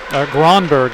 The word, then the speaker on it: Gronberg: Gronberg, actually.